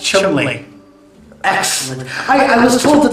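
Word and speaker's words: Cholmondeley: Cole Mundley. I had no idea. It's actually pronounced Chumley.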